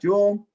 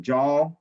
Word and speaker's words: joule: was named after prescott jewel not jewel as in bling bling jewel but j-o-u-l-e okay often people pronounce it jaw okay um so now